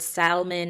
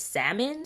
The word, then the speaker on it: salmon: who say the word salmon is salmon so it's supposed to be silent L I don't know what's